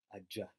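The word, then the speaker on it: ajja: But in this case, it's double J, aja. He, she comes or he, she is coming.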